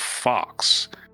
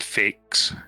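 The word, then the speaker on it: Faxe: the Danish town of Fox. F-A-X-E, Fox. I think that would be pronounced, not fakes. That sounds stupid.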